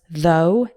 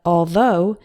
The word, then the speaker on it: though: recipe for the dough the words though and although also sound like the O in know these words are used